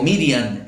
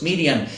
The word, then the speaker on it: Miriam: atardecer y maría o miriam y como algunos dicen que se debe pronunciar los judíos dicen que el hebreos miriam empezó a decir las